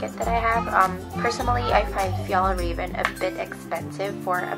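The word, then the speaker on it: Fjällräven: Oh, so yeah, if you're wondering, the pronunciation is Fjallraven Kanken. That's how they pronounce it.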